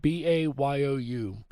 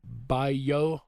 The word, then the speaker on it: bayou: The word bayou, B-A-Y-O-U, is spoken several different ways in Louisiana, depending on location. The two most common pronunciations are bayou, like B-I-Y-A-H, and bayou, B-I-U.